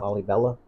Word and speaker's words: Lalibela: Lalibela.